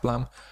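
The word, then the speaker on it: Blame!: chapter of blame blam that that that's it's pronounced plum i still have oh there there's our there's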